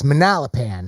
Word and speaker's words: Manalapan: and others that said this manalapan that's how you pronounce that city that i was uh butchering the name and manalapan apparently is